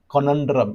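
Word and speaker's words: conundrum: कोनंड्रम, इसका प्रोनाउंसिएशन होता है कोनंड्रम, राइट।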